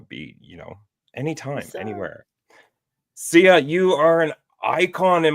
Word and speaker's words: Syya: There's Syya, and pronounced Syya as in Syya.